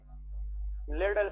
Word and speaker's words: Liddle: That is called, हाँ जी, लेडल syndrome.